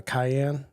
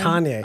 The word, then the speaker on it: Kanye: okay so because like uh ye K uh Cayenne Cayenne kany Kanye why do I always call him Cayenne you havea problem pronouncing things well and I'm I'm just like